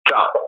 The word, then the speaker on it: Zhao: The correct pronunciation is Zhao, right?